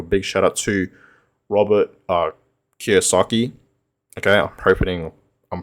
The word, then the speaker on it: Kiyosaki: So I just want to give a big shout out to Robert Kiyosaki. Okay, I'm hoping I'm pronouncing it right. Yeah, I'm pretty sure. Yeah, Kiyosaki.